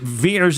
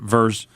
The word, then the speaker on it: Vers: No, because they pronounce it Veers instead of Vers.